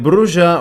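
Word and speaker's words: Brujah: focus on the azomite the bruja or bruja because I've heard it pronounced in both ways but I'm going to say bruja because it sounds more elegant and the followers upset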